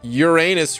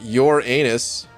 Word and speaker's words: Uranus: on the prestige number you pronounced uranus wrong it's not your anus but i remember you